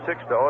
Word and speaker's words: Sixto: two and one we always uh check with the players when they first come up on how they want their name pronounced and he said six though that's why I call